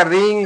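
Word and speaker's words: wrong: से उच्चारण किया जाएगा डब्लू से उच्चारण नहीं किया जाएगा डब्लू क्या होगा साइलेंट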